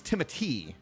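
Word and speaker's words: Timothée: me finally Timothy or I believe it's Timothy is how you say it sham I think it's just pronounced Timothy I think I thought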